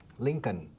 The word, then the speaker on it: Lincoln: Mira, la L al final es muda. Abraham Lincoln. No. Lincoln.